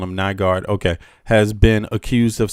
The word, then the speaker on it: Nygard: On November 23rd, 2020, Peter, this is a recent case, by the way, Peter Nugard, I keep saying that because that's how you say it in Danish or in the Scandinavian vernacular, um, was charged with